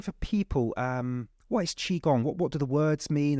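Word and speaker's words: qigong: part of my practice explaining what chiong is because it's weird it's spelled Qi g n g Qi that's this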